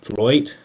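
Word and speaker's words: fluyt: say it wrong, but Floyd I think is the right term supposedly rhymes with with toy.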